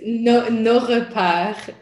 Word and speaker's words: Nos Repaires: llama Nuestras Guaridas, que si me ayudas a pronunciarlo en francés estaría genial para no verme mal. It's no repart en francés.